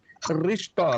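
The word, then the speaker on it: Χριστῷ: Ristó. Lembre-se que está aí a letra ri e a transliteração é CH, mas se pronuncia Ristó.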